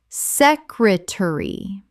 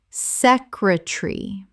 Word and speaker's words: secretary: Common mispronunciation. Secretary. Correct pronunciation. Secretary. 3 syllables in British English. The middle syllable collapses.